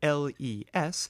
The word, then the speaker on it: les: The plural article les, spelled L-E-S, as in les vaches, is invariable, but do not pronounce the S.